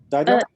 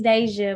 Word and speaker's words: Daija: Am I pronounced correctly? Daija? It's Deja, but yes, I'm here. Deja.